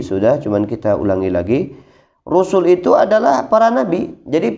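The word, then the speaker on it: رُسُل: Ar-rusulu, rusul kita bacanya, rusul pendek.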